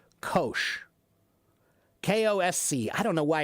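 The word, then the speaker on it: Kocs: There's a small city called K-O-S-C. I don't know why it's not letting me spell it. K-O-S-C. Kosh.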